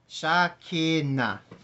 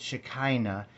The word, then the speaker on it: Shekinah: And we're going to start with the first sound, which is a sha. The second sound, which is ki. And the last sound, which is na. Shakina. Shakina. Miltov. Shakina. In our pronunciation of it in English, usually we call it Shekinah, like Shekinah glory.